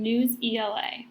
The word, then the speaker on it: Newsela: Part 2 of today's workshop will focus on News ELA, pronounced Newsela.